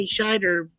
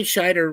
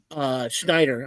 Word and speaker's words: Scheider: But Roy Scheider was telling me, he was like, Schneider. I'm saying his last name wrong.